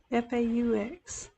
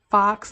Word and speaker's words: faux: F-A-U-X. Yeah. And it is pronounced faux. I know I hear a lot of different people say fox or fa, or it's faux.